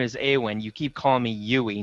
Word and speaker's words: Aywin: but no I mean did I get your name wrong at that it was right well yeah my character name is a win' you keep calling me you'ii not you a